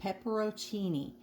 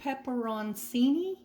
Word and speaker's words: peperoncini: these in this recipe pepero Cheney I think that's how you say it maybe peperoncini yeah I think that's more like it and you just need